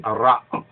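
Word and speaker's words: רעה: Now, in Judaism, the Yetzer Hara'a, it's for the evil inclination, or the Yetzer Ra'a. There's different than Ray. Ray means to see, Ra'a means evil.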